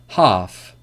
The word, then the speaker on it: half: them after me come half talk walk would should could calf salmon so these are examples when the L is not pronounced but remember the rule